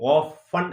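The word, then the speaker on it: often: ഓഫൺ എന്നാണ് ഉച്ചരിക്കേണ്ടത്, ഓഫ്റ്റൻ എന്ന് ഉച്ചരിക്കുക, ടീക്ക് ഉച്ചാരണമല്ല. സോ അവിടെ പറയാൻ ഹൗ ഓഫൺ I think of going there, അവിടെ കേരളക്കരയില്.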